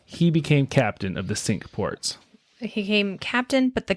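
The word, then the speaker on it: Cinque Ports: that was called the sink ports which is it was spelled c i n qu e ports but it's pronounced sink which is a really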